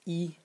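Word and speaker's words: 衣: And the semantic element, using the magenta color to highlight now, this is pronounced yi, and it means clothes.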